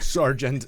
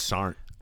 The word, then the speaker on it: Sergeant: It's like Sergeant. Yeah. When you pronounce that G, you know you're in trouble. Nah, there was really in the Army there is no G in Sergeant. It's Sarnt.